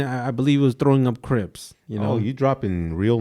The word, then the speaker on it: Crips: believe was throwing up Crips you know you dropping real names now we usually say it rhymes with drips this guy so so